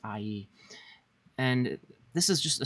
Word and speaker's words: Ai: pronounced more like ie there's the ah sound from the a and e sound from the eye so it's ie and this is just